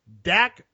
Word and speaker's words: Dak: hint no Rich Canon his name rhymes with Yik Yak Yik Yak yep Dak Prescott that doesn't that